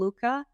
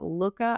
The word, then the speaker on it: Looka: It's called Looka. Not Luca, Looka.